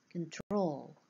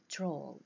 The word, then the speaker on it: control: Control, Control, this is the second syllable, it is stressed.